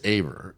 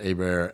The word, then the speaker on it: Aber: It's funny too because like it's Aber is how my father and his side of the family pronounce it. So you were right. But my mother pronounces it Aber, and my nephews Aber. and nieces all pronounce it Aber.